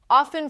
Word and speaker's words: often: Often frequently drops the t sound entirely.